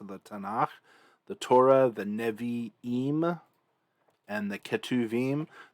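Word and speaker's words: נְבִיאִים: tanakh the torah the nevi eem and the ketuvim the reason why navaim has an e here and why ketuvim has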